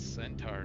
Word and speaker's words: centaur: I mean, it was spelled C E N T A R. That's centaur to me.